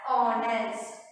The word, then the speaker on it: honest: So he is an honest man. So you have to pronounce it as honest.